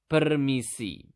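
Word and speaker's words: permisi: To say excuse me in basa you simply just need to say peri.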